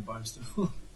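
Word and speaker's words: Barnstaple: Jackson I'm sure it didn't start in barnable or however you're pronouncing it yeah no that that was correct pronunciation of Barnstable but but I think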